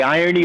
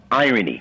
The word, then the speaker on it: IronE: You can say IronE or IronE, like ironic.